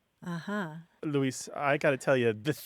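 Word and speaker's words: Luis: you being a speak English speaker it'll be Louise there's an emphasis on the u m and Spanish is just Lis l l very good and uh you mentioned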